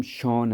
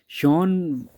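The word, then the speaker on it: Schön: अब सचिन was basically interested in knowing as when, अच्छा ये नाम शॉन है, शॉन वाज बेसिकली, कि स्पेलिंग सचिन वाले नहीं है, शॉन है, SCHON, शॉन।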